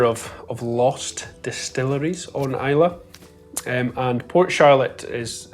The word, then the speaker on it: Islay: Coast of Scotland to a little island called Isla now it is spelled i s l e y so it looks like Isley but is pronounced